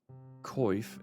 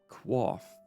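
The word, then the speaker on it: coif: The word is derived from the French, but the English pronunciation varies from the original French, which sounds like qua.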